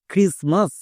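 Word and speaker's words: Christmas: ক্রিসমাস এই ওয়ার্ডটি সবারই পরিচিত ওয়ার্ড। বাট একে অনেকেই ভুলভাল উচ্চারণ করছো এবং লেখতে গিয়েও ভুল করছো। ভুলটা হচ্ছে এই টি এর জায়গায়। কারণ টি এখানে সাইলেন্ট থাকছে।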